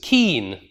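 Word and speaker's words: kine: So for instance, cow, the plural of cow in earlier texts was keen, right? Cow versus keen.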